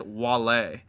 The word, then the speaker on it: Wale: I think it's spelt Wally, but it's pronounced Wale.